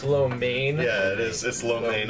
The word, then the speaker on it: lo mein: just solid too it was walk the vegetable lo mean that was good it's actually pronounced lo mein yeah is this low lane I know you're